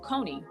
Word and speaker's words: Koni: So you know, my name is pronounced Koni. Mhm. However, my sister, I don't know which sister it was, but my older sister was like, you know, she didn't like the pronunciation of my name. And so she started calling me Connie.